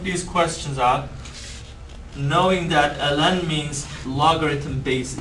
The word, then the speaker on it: ln: three letters we call it Ln and we pronounce it really Ln Ln of X some people call it the Long